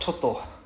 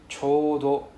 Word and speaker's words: ちょうど: It's not choto. It's pronounced as chodo. It's not choto, it's chodo.